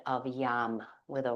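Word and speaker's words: yam: And we'll chant the sound of yum with a Y. It's kind of like it's spelled Y A M, but we pronounce it like you're saying something tastes good, like yum.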